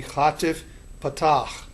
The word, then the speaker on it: chatif patach: This is known as the chatif patach. And this then serves to indicate that the patach sound is very, very rapid, moving from the first syllable or the syllable to a latter syllable.